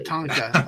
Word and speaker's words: Tatanka: Tatanka.